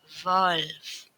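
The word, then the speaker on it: Wolf: Dea fogal Dea vogle huruf selanjutnya adalah W kita membacanya W mereka membacanya seperti kita menyebutkan V Nah jadi tulisannya wolve bacanya volve dia volve selanjutnya adalah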